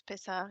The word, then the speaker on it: Pesach: it's a ch at the end, and you Yeah. say it like a cha.